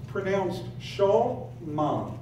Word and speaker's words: Shema: It starts off in verse 4, it says, Shema, and literally it's pronounced Shema. Shema, just FYI.